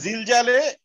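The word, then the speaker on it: زلزال: যেমন সূরা জিলজালে এই জাটাই উচ্চারণ আছে, আমরা তো বলি সূরা জিলজাল, আমরা তো ঝিলঝাল বলি না।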